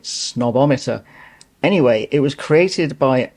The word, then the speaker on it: Snob-O-Meter: This is the snobometer tag, and I'm probably already setting myself out as a snob by pronouncing it snobometer.